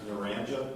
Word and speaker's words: Naranja: And we see Naranja, is that Narranja? That is correct. It's pronounced Naranja? Naranja, yes, sir.